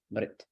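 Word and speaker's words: मृत्: And this M-R-T sounds like Mrit, Mrit, Mrit, Mrit, Mrit. And sometimes in English, we'll put an I in there to help people. People will say Mrit. Mrit isn't quite accurate because there's not a letter I in there. It's not Mrit, Mrit, Mrit, Mrit, Mrit, Mrit. One syllable.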